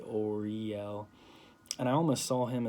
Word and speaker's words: Uriel: to visualize uriel and i was actually pronouncing his name kind of weird i was saying or i yell but now i say oriel and i almost saw